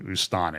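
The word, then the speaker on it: Astana: the last few days the city has gone back to be calling ustana it's it's spelled a-s-t-a-n-a but here is this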